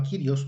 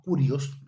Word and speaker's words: Kyrios: Y luego en el Nuevo Testamento cambió a Kyrios, ¿verdad? O Curios, depende de cómo lo quiera decir.